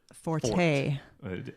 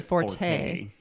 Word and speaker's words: forte: Well, most people say forte. But he insists that it's pronounced fort, which makes a lot of sense when you in think Italian, about, it's forte, like your strength. So, fort.